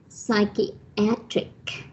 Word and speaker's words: psychiatric: An adjective is psychiatric. Psychiatry, the stress is on the second syllable, but psychiatric is on the third syllable.